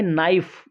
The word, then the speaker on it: knife: KNIFE, इसमें के silent है तो इसको पढ़ेंगे नाइफ। नाइफ का अर्थ होता है चाकू, तो यहाँ के साइलेंट है, इसका डी साइलेंट है।